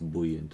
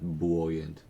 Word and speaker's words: buoyant: voices from within singing along to some buoyant abstract damn that's another thing I'm still very sad that the word is pronounced buoyant and not buoyant yeah so it couldn't